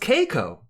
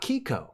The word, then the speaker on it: Keiko: It's pronounced Keiko, not Kiko. I think we've been saying that wrong.